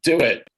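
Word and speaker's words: DoITT: the city's i.t department the acronym is pronounced do it which is a pretty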